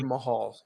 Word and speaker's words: Jinder Mahal: And I know I said his name wrong, Logan. You correct me. Jinder Mahal.